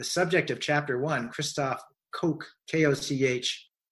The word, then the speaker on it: Koch: of chapter one Christof Koch chaos eh sometimes I pronounce it coke or or Koch maybe I'll stick with coke it's great neuroscientist I've